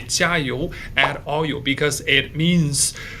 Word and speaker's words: 加油: you would say it sounds like jar and you. So it sounds like you put a little bit oil into the jar to recharge someone. But again, in Chinese, monosyllabic, so cut the ending syllable, make it short, fast, and sharp. So not jar you, but just 加油, 加油, 加油.